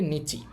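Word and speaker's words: 日: এখন দেখেন এটার উচ্চারণ কিন্তু অনেকগুলো। এটার কু নিয়ম। জাপানিজ উচ্চারণ হবে হি বি কা তিনটেই হবে। আর অনিয়মী মানে চিনা উচ্চারণ হবে নিচি।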